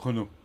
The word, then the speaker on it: Renault: I think it's, how do you say it in French? Renault.